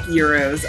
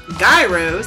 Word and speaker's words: gyros: gonna try the show I like euros I know a lot of people mispronounce them and call them gyros I used to be